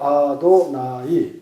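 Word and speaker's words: אֲדֹנָי: 그걸 실제로이 사람들 앞에서 할 때는 아도나이 yh가 나오면 이스라엘 말로 아도나이 이렇게 발음을 했어요.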